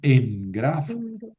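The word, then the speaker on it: ἐγγράφω: De todas maneras, yo escribo grafu, pero pronuncio engrafo.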